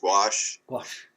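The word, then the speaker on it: gouache: pronounce the two because it's a you know partly a French term but i think it's wash wash and all it is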